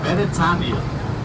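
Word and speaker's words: Beretania: Also, the first car driven on island was right here on So, Britannia is how you would say Britain in Hawaiian. Except they pronounced it Benetania.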